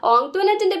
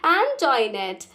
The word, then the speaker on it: Antoinette: Most of them pronounced it ആസ് ആന്റോയിനെറ്റ്. കുഞ്ഞിച്ചിരിത എന്ന് പറയണ പോലെ തന്നെ ഓങ്ക്ട്വനെറ്റിന്റെ പേരും ആന്റോയിനെറ്റ് എന്നാണ് അവരൊക്കെ പ്രൊനൗൺസ് ചെയ്യുന്നത്. ബട്ട് കുഞ്ഞിച്ചിരിത learned from ഓങ്ക്ട്വനെറ്റ് that the name ought to be pronounced Antoinette. കുഞ്ഞിച്ചിരിത try to say it that way. എന്നാൽ കുഞ്ഞിച്ചിരിത ഓങ്ക്ട്വനെറ്റിന്റെ മനസ്സിലാക്കി ഈ പേര് ആന്റോയിനെറ്റ് എന്നല്ല പ്രൊനൗൺസ് ചെയ്യേണ്ടത് ഓങ്ക്ട്വനെറ്റ് എന്നാണ്.